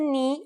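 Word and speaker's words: nu: today is a consonant knee yes pronounced just like the knee on your leg its sound in Greek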